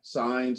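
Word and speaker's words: Saenz: director a woman named rita signs i believe is the way her last name is pronounced she used to be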